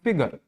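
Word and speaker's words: figure: इसको हम प्रोनाउंस करेंगे फिगर, जिसमें से एफ आई जी, फिग जो है ये थोड़ा सा क्या कर रहा है, हाई प्रोनाउंस कर रहे हैं, इसको हम हाई मतलब थोड़ा सा स्ट्रेस कर रहे हैं।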